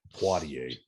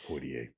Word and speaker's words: Poitier: Poitier, not Poitier. Well, however you pronounce it.